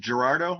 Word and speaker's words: Gerardo: to give him props is it gerardo am i pronouncing it right yeah yeah he played